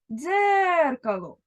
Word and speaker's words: дзеркало: знову погокаємо наше слово дзеркало Отже куди падає наголос правильно на перший склад тепер порахуємо букви і